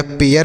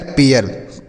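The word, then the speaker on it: pair: उसी तरीके से पी से लिखेंगे प, ए आई के साथ आर है तो इसका उच्चारण ए, मतलब ए की मात्रा लगाना है और यह लिखना है। यही आपको हर शब्द में लिखना है। उसके बाद आर से रा, तो यह पेयर हो गया, पी ए आई आर, पेयर। तो हो गया दोस्तों।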